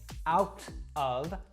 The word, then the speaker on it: out of: part out of now I didn't say out of I said out of now this is how most Americans will pronounce this that t sound in the middle actually warps to kind of a D sound now this is very